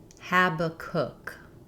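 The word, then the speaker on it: Habakkuk: Letter A says the A vowel like in hat. And the final syllable is stressed. It sounds like the word cook or book. Habacook.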